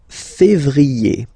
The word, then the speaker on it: février: Then comes février, février. Okay, remember when you have this accent aigu on the top of then you pronounce it e.